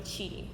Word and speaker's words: Chidi: Okay, I go by Chidi.